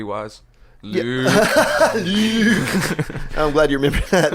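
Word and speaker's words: Luuke: him in the book, he was spelled with 2 U's. Luke. It's like Bruce Lee.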